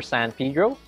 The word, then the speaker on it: San Pedro: ago i went to saint peter or san pedro thank you for the correct pronunciation of that so san pedro fish